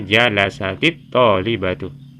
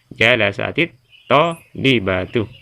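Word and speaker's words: جَلَسَتِ الطَّالِبَةُ: Jadi ketika ada sukun di sini berdekatan dengan alif lam, berdampingan, ya, ini, maka sukun itu kita jadikan kasro seperti ini. Jadikan kasro, ya. Jadi cara membacanya jalasatit tolibatu. Ya, jalasatit tolibatu.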